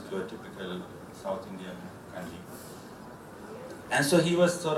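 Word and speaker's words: congee: So when I saw this kanji coming, they spell it C-O-N-G-E-E, but it's exactly similar to the kanji, the K and J-I, how it's spelled here.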